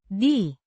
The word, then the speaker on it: di: The a preposition meaning in or on indicating location pronounced D similar to the English D as in deer.